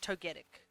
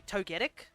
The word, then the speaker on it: Togetic: catch catch Togetic which is gonna be rough uh making my